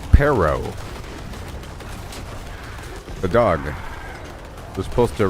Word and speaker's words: perro: about tournament tourament but there's some words that you have to roll your R to say it correctly like perro the dog was supposed